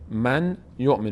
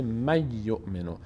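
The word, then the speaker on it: مَن یُؤمِن: و نون تلفظ نمیشه مثلاً من ی ن من یؤمن نمیگیم من یؤمن نون چون بعدش یا اومده یکی از حروف یر ملونه نون تبدیل میشه به حرف بعد که یا هست میشه می یؤمن می یؤمن به جای نون یا تلفظ میشه قاعده دوم اینو باش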